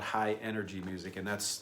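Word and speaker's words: Hi-NRG: of dance music called high energy music and that's that's spelled hi h i dash n r g you know nrg is all caps which is just like it sounds a high-energy dance music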